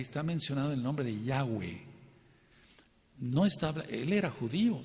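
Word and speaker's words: Yahweh: se puede pensar ahora cuál es la pronunciación correcta yahwe No tiene otra pronunciación por favor No se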